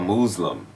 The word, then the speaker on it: Mooz-lum: your movie tell us about that it's called Muslim m o o z-l and it's purposely mispronounced version of of uh Muslim uh and